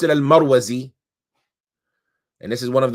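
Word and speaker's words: المروزي: Some of them say it with a kasra, Al-Mirwazi, right? But the best way that some of them say to pronounce it is with a fatha, Al-Marwazi.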